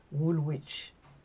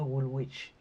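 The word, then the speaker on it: Woolwich: je voulais aller à Woolwitch. C'est un quartier de Londres mais en fait on ne le prononce pas Wolwich. C'est Wich et je savais pasin.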